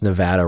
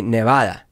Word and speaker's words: Nevada: two that are related people who pronounce nevada wrong drives me bonkers do i pronounce it wrong let's see you mean like nevada that's wrong that's frank nevada nevada yeah i pronounce it wrong nevada so nevada you get an excuse because you speak spanish yeah and no but why because the the vowel would be ah nevada correct by the way